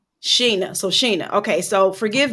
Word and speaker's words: Shana: now do me a favor how do you pronounce your first name it's Sheena it's spell like Shea but it's pronounced Sheena Sheena so Sheena okay so forgive me because I